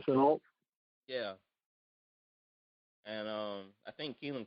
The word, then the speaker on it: Shenault: You know, he just got DJ Chalk and what's that, Shutnot? How you pronounce his name? Laviska Shenault.